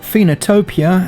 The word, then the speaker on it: Phoenotopia: which i'll go into during this preview but phenotopia as it's pronounced i personally think is going to be